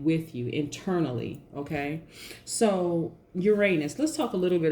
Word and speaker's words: Uranus: And Uranus, or Uranus as it's pronounced by some people, sometimes brings a sudden find into your life.